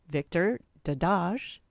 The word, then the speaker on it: Victor Dedaj: He's holistic health coach, Victor Dedaj.